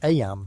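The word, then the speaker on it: Eyam: Aam, you know, is pronounced just like em.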